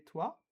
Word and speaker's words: toi: So remember we said that OI in French is pronounced wa. So we pronounce the T with the wa here.